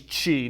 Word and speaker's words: qi: You know, within Chinese medicine, you have something called your body's qi. Now, qi is spelled Qi, okay? So Qi.